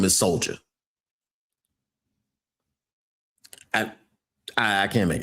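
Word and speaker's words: Soljah: Soldier Anderson.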